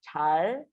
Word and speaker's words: 잘: Okay, one more time. 잘. Your tongue goes up. 잘 들으.